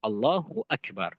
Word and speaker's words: Allahu Akbar: Allahu Akbar. Karena dia mubtada dengan khobarnya. Tidak boleh seseorang memisahkan antara mubtada dengan khobarnya. Dan di antara kesalahan yang fatal juga adalah memanjangkan ba di akbar.